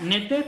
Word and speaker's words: Noether: Entonces, ciertamente cuando existe una matemática que se llama Emily, bueno, se pronuncia Noether, pero es Noether, ¿no?